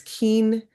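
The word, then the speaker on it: quinientos: So it's not cinco, it's keentos. So it's pronounced like that eentos like that right 600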